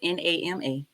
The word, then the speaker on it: Nama: I think I'm saying it right. I know it's NAMA.